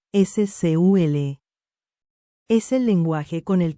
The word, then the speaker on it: SQL: SQL, que se pronuncia comúnmente SCUL, es el lenguaje con